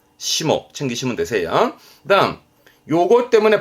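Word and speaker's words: 霜: 대표적으로는 상해라고 서리 피해 소가이, 소가이였습니다만 훈독은 시모, 시모 챙기시면 되세요. 다음 요것 때문에 발음은 무, 그죠?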